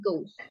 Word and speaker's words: ghost: weekend He udah benar tapi cara pengucapan ghost-nya ini masih salah ya bukan gas tapi ghost ghost Iya number three number